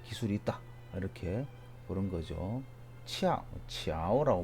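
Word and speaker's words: 巧: 치아오라고 발음하고 파고지 같은 경우에는 고정하는데 치아오하다, 공교하다, 효과가 끝내준다.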